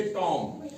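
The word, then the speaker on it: tomb: जैसे टॉम, टॉम, ठीक है, टॉम, ठीक है ना? तो टॉम जो है हमने B साइलेंट रखना है और टॉम ही पढ़ना है, टॉम्ब नहीं पढ़ना है, बी की आवाज नहीं निकालनी है।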